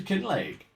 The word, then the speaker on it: Kinlaig: Anyway, in other news, welcome to Kin Lake. Uh, I believe that's how it's would be pronounced if it was a real Scottish place.